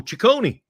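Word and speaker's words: Cecconi: acquires right-handed pitcher Slade cision I think that's how you say it right is it Sone or cision how would you say that Glenn H oh Chone Chone okay and a I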